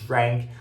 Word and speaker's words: drank: mais aqui no nariz, a gente muitas vezes confunde a pronúncia de drank com a pronúncia de drunk e acaba falando drunk, drunk para os dois. Mas não, é diferente.